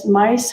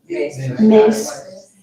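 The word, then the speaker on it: Myss: Is Carolyn Mice? How do you say her name? Carolyn Mice? Mace.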